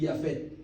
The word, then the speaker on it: Yafet: Aquí le pongo los nombres cómo se pronuncian en hebreo. Shem, Ham y Yafet.